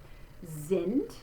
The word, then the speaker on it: sind: So we're going to say that beginning letter S in the German word that's followed by the vowel sound, we're going to say it like a Z. Sind. And then there's that capital I again in the phonetics, I, like in our word is. So not sind, but sind.